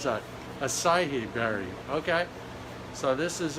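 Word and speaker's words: açaí: that acid Berry hacky Berry how do you pronounce that acai berry okay so this is it what else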